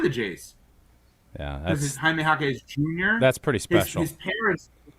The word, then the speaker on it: Jaime Jaquez Jr.: And you get to call him Triple J, and one of the J's is silent, or two of the J's. Yeah, This is Jaime Jaquez Jr.